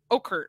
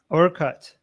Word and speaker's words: Orkut: It's Okert, right? Is that how you say it? Orkut.